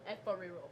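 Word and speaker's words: Efo riro: Efariro.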